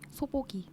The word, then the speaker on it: 소복이: 소보기. 소보기. 소복인데 발음할 땐 소보기가 돼서 그렇군요.